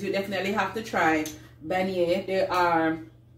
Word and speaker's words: beignet: the bunny is minions bunny yeah I never pronounce it right Benny so if you are everything if you ever come to New Orleans you definitely have to try beignet they're armed it's more